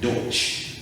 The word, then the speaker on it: Deutsch: different from the that ch yes that's the pronunciation of german in general deutsch but this is dutch d-u-t-c-h that's the english